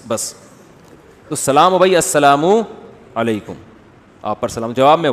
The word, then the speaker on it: السلام علیکم: میرے بھائی کا السلام علیکم اور صلی اللہ علیہ وسلم کا صحیح تلفظ بتا دیں. السلام علیکم کا ہے السلام علیکم, جو آج کل لوگوں نے ساشے پیش کر رہے ہیں سلام, السلام علیکم, ایسے سلام ہو رہا ہے, السلام علیکم.